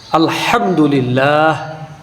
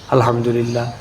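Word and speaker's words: الحمد لله: আলহামদুলিল্লাহ। আলহামদুলিল্লাহ। যার অর্থ হলো সমস্ত প্রশংসা আল্লাহর জন্য। অথচ আমরা অনেক মুমিন মুসলমান এমন আছি যারা এভাবে জিকিরটা করি। আলহামদুলিল্লাহ।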